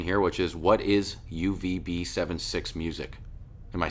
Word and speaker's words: UVB76: Well, that kind of leads into my next question here, which is, what is UVB76 music? Am I saying it right? Yeah, UVB76.